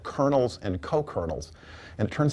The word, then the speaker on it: kernel: It's pronounced like colonel in a military, like captains and generals.